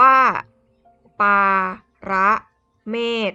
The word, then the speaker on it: ปารเมศ: มี ปลา ร้า เมษ สะกด ด้วย ป ปลา สระ อา รอ เรือ สระ เอ มอ ม้า สอ ศาลา ขาด อ่าน ว่า ปลา ร ร เมธ อร์ ตัว สะกด ด้วย